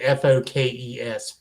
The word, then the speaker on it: folks: I say Folks. it in as folks. F-O- I say it. Go ahead. But people usually pronounce it Fokes, folks. Right, folks. Folks. that almost sounds like a British person saying fork.